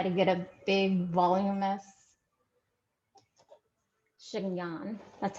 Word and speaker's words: chignon: comb to try to get a big voluminous chignon. That's how you say it, right? Chignon.